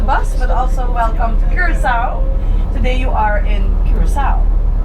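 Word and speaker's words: Curaçao: You can just pretend that the second C is the letter S and that makes it super easy to pronounce.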